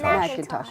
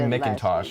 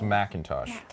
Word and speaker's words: Macintosh: Macintosh. Okay. I I didn't want to pronounce your last name wrong, so the um the introduction beforehand. I just It looks like Mintosh at first glance, but it's Macintosh.